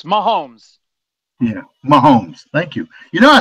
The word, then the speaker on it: Mahomes: I was close? You was close. Mahomes.